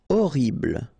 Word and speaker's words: horrible: Horrible. Okay, first letter is H, but then we don't pronounce H, so you don't pronounce it. And the first thing you hear is O.